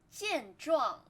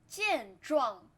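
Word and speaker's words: 健壮: 健壮健壮健壮, both first tone.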